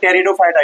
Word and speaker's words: Pteridophyta: अब क्रिप्टोग्स का last division है जिसको बोलते हैं टेरिडोफाइटा। इसमें पी साइलेंट होता है।